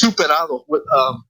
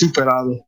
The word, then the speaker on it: Zuperado: It's pronounced Zuperado.